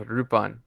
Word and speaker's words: Lupin: yeah yeah so now now it is in Japan it is pronounced rupon ah yeah I see